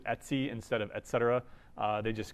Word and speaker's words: etc: is stands for etc people in the UNIX world usually pronounce it at C instead of etc they